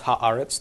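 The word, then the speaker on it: הָאָרֶץ: do that okay so we would think hot Eretz but this is just an irregularity where Eretz becomes our 'it's so this is correct and yeah it is easier to pronounce Haaretz than hot air it's it's a little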